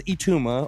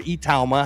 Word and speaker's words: Itauma: His name is Moses Ituma or Itauma, however you want to pronounce it.